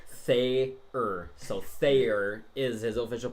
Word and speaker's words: Thayer: So Thayer is his official pronunciation.